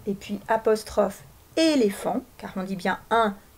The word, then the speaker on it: éléphant: On remarque que éléphant comporte un T muet qu'on entend dans éléphanto, qui est le nom du bébé de l'éléphant.